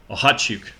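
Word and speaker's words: Okhotiuk: And they also get Nikita Ohachuk.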